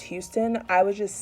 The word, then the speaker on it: Huston: So plot twist, it actually is indeed pronounced Houston.